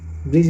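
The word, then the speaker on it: bridge: प्रयोग हो रहा है उसी प्रकार ब्रिज ब्रिज माने पुल बी आर आई डी जी ई यहां पर डी को साइलेंट रखा गया है केवल उच्चारण में ब्रिज बोला जा रहा है ओके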